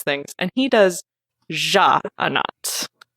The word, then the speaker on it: Sja-anat: Sja-anat, which is apparently not pronounced Sja-anat.